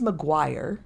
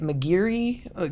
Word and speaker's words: Maguire: Um, my last name is Maguire and you wouldn't think that that would be but I get Mcgiri.